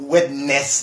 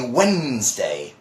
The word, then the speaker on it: Wednesday: the position for this it's not web Nets they or something like that and people sometimes you know finding hard and difficult to pronounce as one it's actually Wednesday just Wednesday obviously also you know